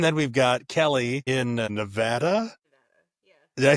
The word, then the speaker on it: Nevada: If you guys go to Vegas, you will get corrected by Nevada. Right. Well, it's so funny because I grew up in central Iowa. There's a little town in central Iowa that's called Nevada, and it's spelled the same way. So I grew up saying Nevada as a kid, and then like, oh, that state's called Nevada. No, it's not. It's just a different name.